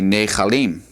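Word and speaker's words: נחלים: And then for the plural will be nechalim.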